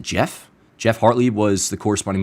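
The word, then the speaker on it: Geoff: Anyways, it's uh it's spelled Geo FF Hartle, and I believe you pronounce it Jeff.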